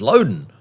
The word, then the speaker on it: Loudon: She says, well, no, I'm Mrs. Loudon. That's how you pronounce it. And I said, oh, okay, everybody's pronouncing it Loudon. She said, yes, but it's actually Loudon.